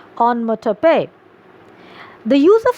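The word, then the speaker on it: onomatopoeia: literary device onmo tope kindly mark the pronunciation it is quite different from the spelling the pronunciation is on motor pay the use of sound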